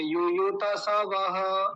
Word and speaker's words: युयुत्सवः: अपने लोगों को कि जहां आधा है आधे को आधा बोलेंगे पूरे को पूरा बोलेंगे ये गलत लिखा हुआ है मैंने नीचे गलत लिखा है या त आधा की बज मैंने पूरा कर दिया तो नीचे वाले को क्या बोलेंगे यु युत युत ऐसा बोलेंगे य युत सव ऐसे